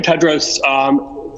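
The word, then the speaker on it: Tedros: for the question and the correct pronunciation of my name's dr. Ted Rose greetings to you again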